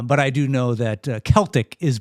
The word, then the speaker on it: Celtic: Uh but I do know that Celtic is pronounced Celtic and not Celtic.